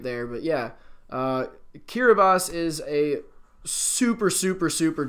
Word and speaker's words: Kiribati: which is kiri boss yes it's Kira boss not Kiribati it is spelled Kiribati but in the IQR boss language the TI sound the TI letters make an S sound because they don't have the letter s really interesting stuff right